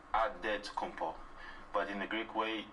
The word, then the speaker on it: Antetokounmpo: Now there's Antetokounmpo making his last shot.